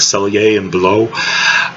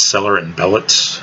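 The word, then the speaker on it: Sellier & Bellot: about pronouncing the name, cuz it's actually originally a French name, it'd be something like Selier and below. Um um but um if you read it phonetically, it's seller and belllet.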